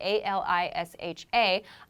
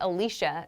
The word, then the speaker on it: Alisha: It's spelled A-L-I-S-H-A. I pronounce it Alicia. Some people might choose to pronounce it Alisha. So that's up to personal preference.